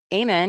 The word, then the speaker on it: Ammon: Llama, Ammon is a Book of Mormon name. Oh, the A is pronounced like apple.